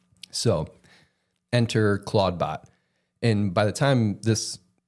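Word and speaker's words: Clawdbot: change the name because it's spelled C L A W D B O T Claudebot, which sounds a lot like Claude, which is Anthropics, um the branding around anthropics language model.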